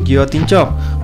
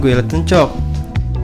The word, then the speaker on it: guillotine choke: giot encok Inget ya cara bacanya itu biotin chock bukan Guilt encok diberi nama biotin chock